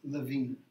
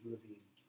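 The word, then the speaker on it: Lewin: going to hear pronounseling I use the pronunciation he used which is the German pronunciation which is Levine don't become confused if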